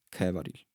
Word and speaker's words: Khevaril: Il nome che ho creato è Kevaril e in realtà ho creato un un full name. Quindi il full name per la fonetica attuale che gli ho dato si pronuncia come Kevaril e Siderea.